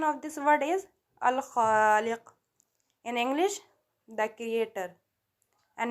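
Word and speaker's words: الخالق: Arabic pronunciation of this word is Al-Khaliq.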